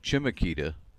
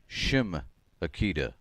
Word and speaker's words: Chemeketa: with the Community College tell me that it's a sh sound she says people pronounce it chimakita but that's not correct it's shim Akita like sh I had